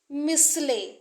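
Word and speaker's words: Michelet: को जरूर याद रखिए क्योंकि इसमें जो यह टी है वह साइलेंट है और इसमें जूल्स इसको मत पढ़िए यह जूल है जूल मिसले इसका सही प्रोनंसिएशन है मिसले इसमें जो टी है वह सायलेट है और यह एक फ्रेंच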